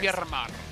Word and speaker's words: Miramar: It's going to be Miramar. Miramar. What was that accent? Where'd that come from? Roll some randomars. Yeah? Randomars? Just randomars. Yeah. Miramar. Yeah. Do the last R, too. Do both R's. Miramar.